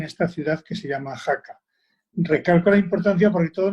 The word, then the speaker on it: Jaca: en los pirineos efectivamente se llama jaca como oaxaca pero sí se escribe con jota la copla es una